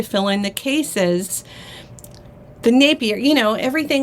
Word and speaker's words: Napier: um like Napier there's some people online that that say Napier and it was never that if you Google the old commercials you know that aired on television they say Napier is naughtier that was one of their taglines and it's very clear that they're saying Napier also um what else